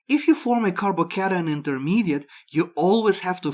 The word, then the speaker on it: carbocation: Before we go any further, I want to point out that it's supposed to be pronounced carbocation, not carbocation.